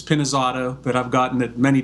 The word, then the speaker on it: Pinizzotto: story of my life you actually were pretty close it's penis Auto but I've gotten it